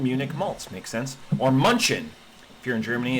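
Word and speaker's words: München: Or Munchen. If you're in Germany, it's all the signs that if you pronounced it like a dirty English person, it would be Munchen.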